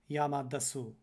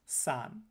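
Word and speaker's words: 山: we have san so the symbol in blue is pronounced san this is the chinese loanword for mountain later we have the same symbol also meaning mountain but using the native japanese word yama now remember what we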